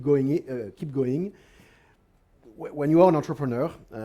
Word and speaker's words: entrepreneur: when you are an entrepreneur uh it's convenient it's a French World so I pronounce it properly uh you actually the